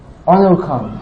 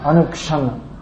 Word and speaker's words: Anukshana: Anukhan, Anukshana. Bengali pronunciation, Anukhan.